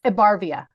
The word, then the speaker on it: Ebarvia: Thank you for asking, because it's been mispronounced many times. It's Ebarvia. Ebarvia.